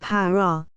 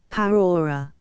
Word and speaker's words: prairie: I may premise that the word prair is variously pronounced par Pera paror the latter mode of pronunciation is perhaps the most in favor we were 14 in